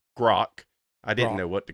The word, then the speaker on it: Grok: country songs as provided to us by both Grok. That's how you pronounce it, JR. It's Grok.